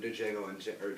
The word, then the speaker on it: Django: There's one hilarious scene in Django Unchained, sorry, The D is Silent, where a bunch of